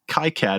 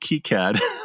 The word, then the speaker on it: KiCad: It's like, plus it's complicated for me because like, oh wait, it's not pronounced KiCad, it's pronounced KiCad.